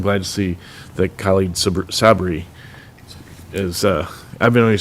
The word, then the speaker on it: Sabri: to see that Khalid Sabri is, I've been always saying it the wrong, I've been putting the emphasis on the wrong syllable up to this point, but Sabri is the new trustee, and we're lucky to have you.